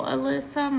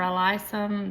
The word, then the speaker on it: alyssum: Um, I know that, um, the royal alysum or alysum, depends on how you pronounce it, um, a lot of